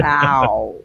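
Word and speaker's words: bao: going to the DTNS meetup tomorrow, there's a bow place that's not far from the convention center. Not to be confused with bowel. Yeah, it's a Wait, B-A-O. Bow.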